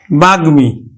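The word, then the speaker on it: বাগ্মী: এজন্য কিন্তু এই ম ফলাটা উচ্চারণ হবে আমরা উচ্চারণ করবো কিন্তু বাঘ মি বাগমি আবার দেখো যুগ্ম তাহলে আমরা উচ্চারণ করি অন্তস্থ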